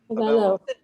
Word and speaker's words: Avelo: Does anybody know how they pronounce it? Avelo Air? Avelo Air, thank you.